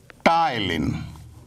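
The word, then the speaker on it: ptyalin: का नाम है टाइलिन पी साइलेंट है ध्यान रखिएगा इस पहले एंजाइम का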